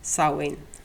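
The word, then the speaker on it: Samhain: name of this because it's pronounced totally differently than it's spelt and i think the closest i can get their pronunciation is sowing it's a celtic celebration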